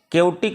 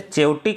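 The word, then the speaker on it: chaotic: केओटिक इसको पढ़ेंगे CH, pronunciation पे ध्यान देंगे। CS से चेओटिक आप नहीं पढ़ेंगे, इसे केओटिक पढ़ेंगे।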